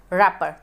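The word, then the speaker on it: wrapper: Dash रैपर, W silent है, आर बोला जा रहा है रैपर तो कॉन्सोनेंट है तो यहाँ पे यूज़ होगा आ रैपर।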